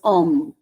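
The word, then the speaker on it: homme: we call it as OM they because there is no sound of it there so we have say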